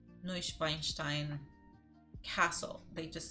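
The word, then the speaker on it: Neuschwanstein: an horror film the tourists have to see neuschweinstein excuse me Castle this is way too many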